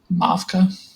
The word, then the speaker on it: Mavka: How do you say this? Mavka. Mavka? Yeah. It's Um, Russian.